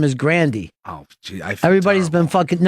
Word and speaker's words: Grande: that the other day or last name is grandi everybody's been no she said